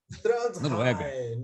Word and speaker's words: Trondheim: Ele mora em Trondheim, é assim que se pronuncia, né? Como é que repete, César Mackenzie? Fala aí. Trondheim, na Noruega.